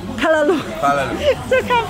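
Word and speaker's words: callaloo: Kalalu or Kalalo? Kalalu. Kalalu.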